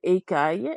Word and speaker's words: écaille: And then we had our word écaille, and you did pronounce it correctly the first Okay. time. Écaille. Okay. So AIL is another set kind of combination. AIL Uh-huh. or double L gives us aïe.